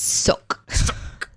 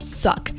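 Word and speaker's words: suq: this okay all right s-u-q which i assume is pronounced suck yeah very guttural uh i don't understand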